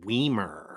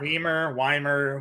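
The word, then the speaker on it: Wiemer: So I think it's actually pronounced Weimer. Weimer. Who cares, right? Well, you know what? I mean, well, listen, I think his associates in grade school probably enjoyed it being Weimer and not Weimer.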